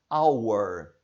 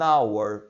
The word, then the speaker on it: hour: Our, honest, air, airship, honorable. Elas iniciam com H, mas você não vai pronunciar este H. Vai ficar apenas an hour, uma hora.